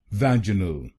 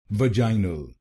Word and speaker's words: vaginal: तो बनेगा वैजिनल वैजिनल वैज नल वैज नल वैजिनल वैजिनल। British pronunciation में हमने दूसरे शब्दांश पर जोर डाला था, लेकिन अमेरिकन प्रोनाउंसिएशन में हम पहले शब्दांश पर जोर डालेंगे।